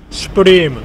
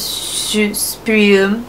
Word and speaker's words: Supreme: Yeah, so when you pronounce Supreme, I don't even know how to do it in English. We call it Supreme. So, shu sounds more like shoe, like shoes.